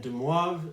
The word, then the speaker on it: de Moivre: was a French mathematician, so that's why his name is pronounced kind of funny. If you were to pronounce it de Moivre, apparently he would like that. As the story goes, he actually preferred the way non-French speakers would pronounce his name.